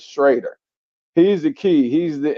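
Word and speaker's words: Schröder: of you you know he is spelled schroer but he pronounces it Dennis is shraer he's the key he's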